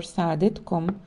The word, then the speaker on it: سعادتك: If the person addressed is of much higher rank, the word سعادتك or سعادتكم should be used and pronounced سعادتك سعادتكم.